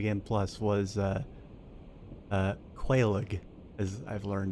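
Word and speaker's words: Quelaag: I I killed uh so my first boss that I killed in New Game Plus was uh uh Quaig, as I've learned it's pronounced.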